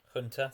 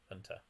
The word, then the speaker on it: junta: paul try and hold junta hunter sorry i've been corrected on that it's weird brits say javier bardem but don't say hunter junta hunter all right let's invent